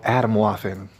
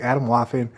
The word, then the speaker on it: Atomwaffen: your life it's called Adam laughing right it's called Adam laughing and it's spelled like a t om like Adam bottom and Waffen like lawful but with an N Adam laughing all right